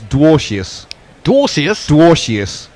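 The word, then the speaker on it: Dwarshuis: messes tells us that it's dwas dwas dwas is how he pronounces it oh it's hard enough with laain now we've got darus and I thought lavagne I thought I thought Mitch Mar had said DWI house so there you go about eight different pronunciations so far Hardy into salt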